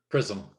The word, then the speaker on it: XRISM: And he's now the Canadian lead on the JAXA NASA-led, is it XRISM? Prism. Yeah, it's spelled XRISM, X-ray mission that will launch in 2022.